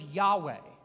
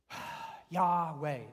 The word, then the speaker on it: Yahweh: no vowels in it it literally is like almost the sound of breathing yeah way like and maybe that's